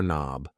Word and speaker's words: knob: This thing here is a door knob. A door knob. Yes. The K and knob is silent.